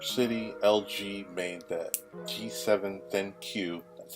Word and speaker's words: ThinQ: So earlier today, in New York City, LG made the G7 ThinQ, that's how it's pronounced, made it official.